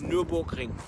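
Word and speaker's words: Nürburgring: Can you just say to my friends how we say it? Nuremberg Ring. That is how you say it.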